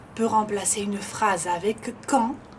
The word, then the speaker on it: quand: Peut remplacer une phrase avec quand, como ven la D, acuérdense, no se pronuncia, quand tu arriveras, cuando